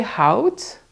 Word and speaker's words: houdt: Jij houdt with the T, but you only pronounce the T.